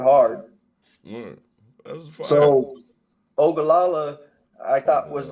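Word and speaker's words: Oglala: pronounced, but the way it's pronounced is actually like there would be an A between the G and the L. Bet that up. Buddha said, many Ogallala.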